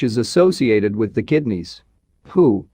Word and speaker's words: hu: Hu, pronounced like hu, which is associated with the spleen.